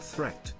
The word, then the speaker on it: threat: Watch out for meat and great and threat, they rhyme with sweet and straight and debt.